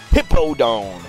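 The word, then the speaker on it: Hippowdon: beating whipping the crud out of hipaa down hippo down that's how you say it and well more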